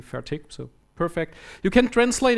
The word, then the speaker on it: Fertig: Um I'm German so my last name incidentally is a very frequent German word. It's an adjective and um I'm mispronouncing it for years now because in proper German But due to my dialect, I put a hard K at the end. So I always say fertic.